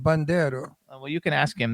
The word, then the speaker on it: Bandiero: No, he's Italian. Yeah, that's how you say it, Bandiero.